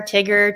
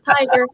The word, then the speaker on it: Tiger: for some reason but i had so many interesting pronunciations of my name that i thought well let me help people out because i to get to share tigger to gray i'm like it's tiger let me help you